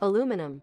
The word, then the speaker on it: aluminum: Because it's a rare example of a word that's both spelled differently and pronounced differently. Aluminum.